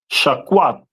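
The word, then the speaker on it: שקד: Uh shaquad.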